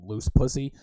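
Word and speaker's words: Luz: was the girl's name her name was loose and not loose like l-o-o-s-e like you know loose but l-u-z loose she was mexican that's how they pronounce it and just like every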